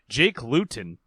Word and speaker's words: Luton: Jake Luton, which sounds like the word gluten.